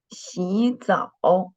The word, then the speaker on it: 洗澡: The tone of the second syllable is 早, not 早.